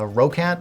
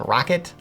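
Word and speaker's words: ROCCAT: i pronounced this uh rokat the first time i reviewed it it's actually pronounced rocket like rocket like man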